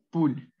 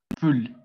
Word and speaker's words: poule: Entonces la fusión de estas dos, como pueden ver, es U, ¿sí? No se debe forzar nada, simplemente decir U o una U. Sí, entonces en este caso, la gallinita o la gallina se tendría que decir poule o pull. Entonces ese sería une poule, une poule.